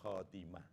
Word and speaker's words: khotimah: Husnul khotimah. Jangan pakai ha. Nanti maknanya sudah gak sama itu ya.